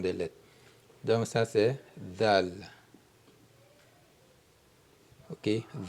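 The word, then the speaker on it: دال: Donc ça c'est dal. OK ? Dal da z dal. Ensuite la lettre R en arabe s'écrit comme ça comme l'arc.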